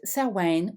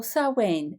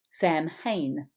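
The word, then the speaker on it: Samhain: outgoing mother they simply don't understand Wayne is pronounced selwain or sauwen it is not Sam Hayne the various names for this sabbath are sir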